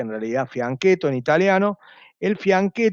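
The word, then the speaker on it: fianchetto: se escribe con doblete fui a nieto se pronuncia en realidad franquet o en italiano el fin que todo de sacar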